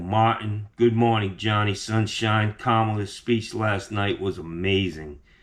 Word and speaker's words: Kamala: It's not Kamala, it's Kamala. Pretty simple, guys. Get it right. A lot of guys on the channel, they know what's up. Kamala, Michael Martin, good morning, Johnny Sunshine. Kamala's speech last night was amazing.